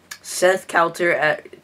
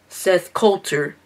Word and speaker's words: Seth Coulter: Seth Coulter wait, no, I keep saying your name wrong. It's Seth Coulter.